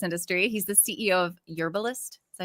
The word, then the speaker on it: Yerbalist: for the Cannabis industry he's the CEO of yurist is that how you say it y That's